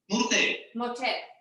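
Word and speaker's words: morter: Murte. Yeah. Murte. That's a Catalan specific thing. Sometimes when the written O is not a strong syllable, we say you, mu.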